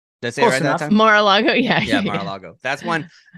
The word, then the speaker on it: Mar-a-Lago: mar-a-lago did i say it right that's it mar-a-lago yeah yeah mar-a-lago that's one yesterday i was